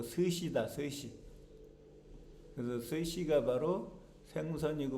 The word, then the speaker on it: 스시: 그래서 일본 한자로는 목숨수가 여기서 나와갖고 수시인데 일본에서는 수시라고 발음하지 않고 스시다.